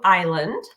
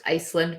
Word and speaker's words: Island: want to call you Island so it's pronounced Iceland but I answered Island too fine I think it's kind